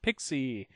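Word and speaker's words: PXE: you a good solid definition preboot execution environment pronounced pixie it's an environment that allows you to boot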